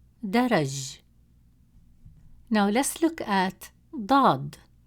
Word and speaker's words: ضاد: Now let's look at ضاد. It is a deep sound, pronounced from deeper in the mouth, with more emphasis and stress on the tongue, pushed with more force from the back of the mouth.